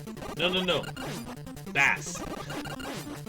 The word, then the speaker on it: Bass: no no no Bass you guys remember they weren't pronouncing it like the musical terms they were pronouncing it like the fish oh so bad